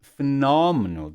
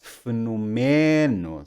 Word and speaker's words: fenômeno: Same thing with fenômeno. That's the way we say it. Fenômeno, not fenomeno. So without accent mark, we would default to the default, which would be the next to last syllable.